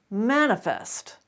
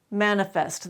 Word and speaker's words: manifest: across the word manifest manifest manifest that is the only correct pronunciation you cannot reduce the e sound in that final syllable even though it is the final syllable and it's not accented is there a rule